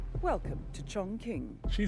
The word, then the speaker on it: Chongqing: It is how you pronounce it. Chongqing. Welcome to Chongqing.